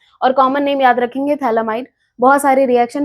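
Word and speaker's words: phthalimide: यहां पे नाम पीए से शुरू जो कि साइलेंट है। इसलिए इसको पढ़ते हैं थैलामाइड।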